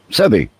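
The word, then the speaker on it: Sebby: Sebi or Sevby? How do you say that? S-E-B as in boy, B as in boy, Y. Sebi.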